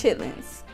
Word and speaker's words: chitterlings: for the chin the chitterlings oh I'm gonna say it like this chitlins I tried looking for